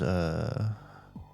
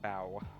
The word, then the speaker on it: Bow: Alright, we'll do Zevros versus Bow. Bow? Yep. Not Bo, like the fish player, but Bow. Like, but not spelled like the food. B-O-W still.